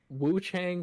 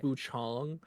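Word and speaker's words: Wuchang: Woo Chang Fallen Feathers. I think it's pronounced Wu Chong. They were correcting the devs.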